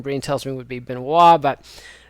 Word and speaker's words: Benoist: tells me would be Beno but Benoist is more after a man after my own heart says his name the American way anyway Pearson's 36 years